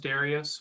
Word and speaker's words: Darius: my name is Darius it's pronounced Darius but in a rehearsal room it could be pronounced four different ways sometimes sometimes I'm referred